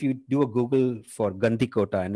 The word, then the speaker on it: Gandikota: C but if you do a Google for Gandhi Kota and it's spelled g a n d i k o